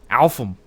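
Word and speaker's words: Alfhem: Is it Affelheim or Alfum? Alfum.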